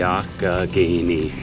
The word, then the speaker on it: Allegheny: I never knew how to pronounce that until maybe 2 days ago. The Allegheny. Say it with me. Allegheny.